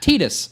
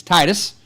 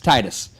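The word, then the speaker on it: Tidus: Like Tetus. No, it's it's Titus. It's Titus.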